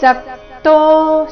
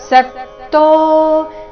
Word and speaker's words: ಸಕ್ತೋ: ರೀತಿ ಉಚ್ಚಾರಣೆ ಮಾಡಬೇಕು ಫಲೆ ಸಕ್ತೋ ಸ ಮೇಲೆ ಆಘಾತ ಸಕ್ತೋ ನಿಬದ್ಧತೆ ಬ ಮೇಲೆ ಆಘಾತ